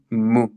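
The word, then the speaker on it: μῦ: cerquita es decir mu, pero la U es como la U francesa, o sea, no es un sonido que nosotros tengamos en el español. La U francesa, si no la conoces, pones la boca en forma de I, pero dices U. O sea, suena U. Sí, es mitad U, mitad I, para que me lo entiendas. Mitad U, mitad I. Entonces suena mu.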